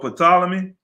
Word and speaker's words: Ptolemy: sacred and divine scriptures of the hebrew for ptolemy philadelphus that's right you said it right ptolemy